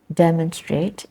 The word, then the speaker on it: demonstrate: that in that word demonstrate demonstrate where is the stress demonstrate is in the first syllable the first s and